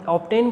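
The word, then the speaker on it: obtain: जब हम ऑब्टेन बोलते हैं तो बी की साउंड भी आती है, इसलिए इन रूल्स में एक्सेप्शन भी हो सकता है।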